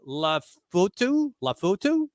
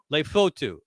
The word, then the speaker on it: Lefotu: Help me with the pronunciation. Sua Lafotu? Lefotu. They're getting a big guy. Polynesian, you got to kind of abbreviate every vowel.